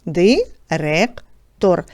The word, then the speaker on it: директор: звукобуквений аналіз цього слова директор наголос падає на другий склад проаналізуйте букви і звуки